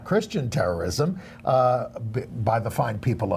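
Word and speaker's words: Kirstjen: that was Stephen Colbert your name is Christian Nielsen with a silent J yeah very cute and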